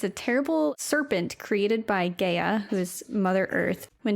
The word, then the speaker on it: Gaia: Also, it's pronounced Gaia, not Gaia.